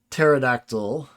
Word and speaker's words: pterodactyl: that p disappears or pterodactyl the p disappears but you know in